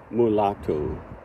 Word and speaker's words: mulato: to learn Portuguese and I would say Figo previously but um the O should be pronounced as U so figu mulatu and look at the